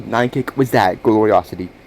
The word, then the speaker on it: Nynekic: Yes, it's pronounced Nynekic.